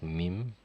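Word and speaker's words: ميم: just like 4 24 the letter is mim but the sound that it makes is ma okay except for like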